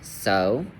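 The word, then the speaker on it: sew: So for the word like so s e w though by the way um it makes a long o sound.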